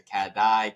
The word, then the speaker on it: Catdi: Why is it called Katy Printing?